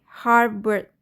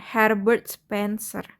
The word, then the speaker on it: Herbert Spencer: Harbert atau Herbert ya bacanya Herbert Spencer.